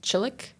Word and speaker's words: Csulak: And it's actually pronounced chilik.